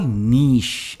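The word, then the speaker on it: niche: हैं और बहुत ही सिंगल सिलेबल वर्ड है यह switch call neeish एंड नॉट मी के नेक्स्ट वर्ड प्रतिद्वंद्वी जिसे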